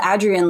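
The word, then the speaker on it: Adrienne: I I learned that she's called Adrian like the a is and hat by going to the archives and reading her say in an interview you pronounce the a in my name like hat and I never had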